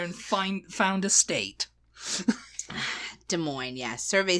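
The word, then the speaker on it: Des Moines: there goes M Indianapolis um next is Iowa De Moine yes this is one of my mom's little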